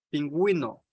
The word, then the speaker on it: pingüino: Sin embargo, la U sí se pronuncia si lleva diéresis. Por ejemplo, desagüe, pingüino, lingüística.